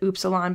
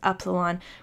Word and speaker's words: upsilon: Some people pronounce it upsilon, but I hear it most often as upsilon.